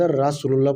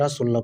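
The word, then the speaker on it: رسول الله: র আমরা সবসময় পড়ি রাসুলুল্লাহ আসলে শব্দটা রাধার মুহাম্মাদ রাসুলুল্লাহ পড়ি কালিমা পড়ার সময় লা ইলাহা মুহাম্মাদুর রাসুলুল্লাহ পড়ি আ রাসুলুল্লাহ শব্দটা রসুলুল্লাহ র মোটা হবে রসুলুল্লাহ তারপর হচ্ছে যা জিজের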